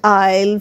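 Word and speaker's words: aisle: লিখে জানাও তাড়াতাড়ি তাহলে আজ আমরা শিখলাম কিছু সাইলেন্ট এস ওয়ার্ডস লাইক আইল্যান্ড আইল ভাই কাউন্ট আইল ডেব্রি বুজুয়া তাহলে আমরা লিখছি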